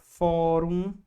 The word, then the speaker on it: fórum: A palavra fórum. Qual é a sílaba tônica? A penúltima, terminou em um, acentua.